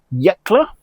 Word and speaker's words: Yecla: So, this is Castano from the region in Spain of Yakla, and I'm pronouncing this correctly this time, and I've looked